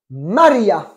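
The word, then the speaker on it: María: manque quelque chose non bien mais mal placé exct à Maria d'accord et on n'oublie pas qu' espagnol il y a un accent sur le de Maria on dit pas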